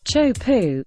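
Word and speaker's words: Teahupoʻo: The Majestic wave and surfing Haven T poo pronounced Cho pu is a legendary surf break located on the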